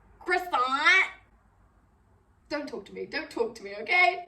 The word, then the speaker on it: croissant: Another one that's kind of similar is when people say croissant instead of croissant. I'm not saying you have to pronounce it exactly how a French person would, but croissant.